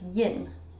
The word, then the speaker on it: yin: A lot of Scottish people will say the word 1 as yin, Y-I-N.